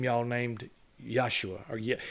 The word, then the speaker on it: Yeshua: same name y'all named yosua or it's they spell it Yeshua but they say yosua except for his mama when she goes Yeshua when she's calling him when